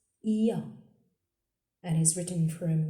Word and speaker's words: ي: The 28th letter is pronounced Ya and is written from right to left on the line. Ya has two dots down. Ya, like in year.